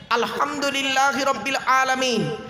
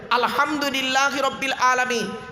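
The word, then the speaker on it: الحمد لله رب العالمين: ওটা কি আছে ওখানে আলহামদুলিল্লাহি রাব্বিল আলামিন আলহামদু আলহামদু হে গলার ভেতর থেকে হে এটা উচ্চারণ করবেন আলহামদুলিল্লাহি রাব্বিল আলামিন এর মানে হচ্ছে সমস্ত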